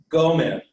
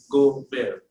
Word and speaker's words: Gomer: So this is pronounced gomer. तो इसको हम पढ़ेंगे gomer. With the accent on the front though, gomer.